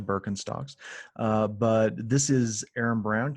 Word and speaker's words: Birkenstocks: from birkenstocks to investing chances are pronounced birkenstocks wrong it's probably birkenstocks but this is aaron